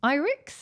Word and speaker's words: Irix: really hoping together very soon and happiness also irix is that how you pronounce it yep irix announced a new 30 millimeter f 1.4 lens